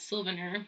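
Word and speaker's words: Silvaner: to make the best Silvana in the world and so I know some people pronounce that sylvaner but whatever you prefer so this is a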